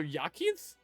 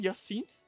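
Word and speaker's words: Jacinthe: Oh, the J is pronounced as Ya. So, Yakinth French language makes no sense since so Yakinth there says Yak has unleashed her furies unlike everything.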